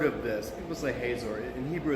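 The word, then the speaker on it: Hazor: huts or heard of this it was a haze or in Hebrew it's a Kotzur it's the way so spoke to you that I say hot sore and you really advise her to pronounce haze or haha and whatever just this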